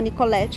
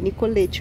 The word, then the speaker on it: Nicoletti: a Praça Major Nicoletti eu falo para Nicoletti até que descobri que é errado é Nicolete mesmo a pronúncia a gente olha essa